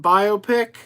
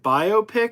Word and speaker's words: biopic: Marty would like to see a Van Halen biopic. That's another question. How do you pronounce it? Do you pronounce it biopic or biopic? Because I've heard it pronounced both ways.